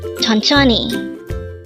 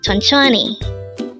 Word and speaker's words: 천천히: hangle word number 320 tononi again it's ton CH this pronounced as a three syllable word the first syllable is Chon the second syllable is also Chon and the third syllable is he pronounce it with me